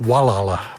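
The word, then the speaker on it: Gualala: A very pretty park is down by the river, the Guala. It's actually pronounced Wala by the folks locally here.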